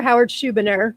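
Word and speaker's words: Howard Schubiner: Howard Schuberner. Am I pronouncing it correctly?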